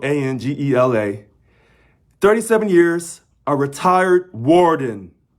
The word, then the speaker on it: Angela: His last name is spelled Angela.